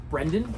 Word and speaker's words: Brendan: too that's all right everyone calls me Brandon I answered to both why do they call Brandon cuz it's a more common name but it's not spelled like that no but uh my